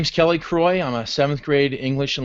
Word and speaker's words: Croy: we are pleased to be joined by kelly croix did I say her name right yes I